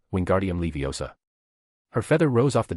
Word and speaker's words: Leviosa: Wingardium Leviosa. The girl seemed to snap at his spitting. You're saying it wrong. It's<unk> wingardium Levi Osa. Make the gar nice and long.